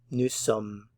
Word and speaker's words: nous sommes: Nous sommes, nous sommes, nous sommes. We are. Nous sommes. Nous sommes. Notice you're not pronouncing the end of it here.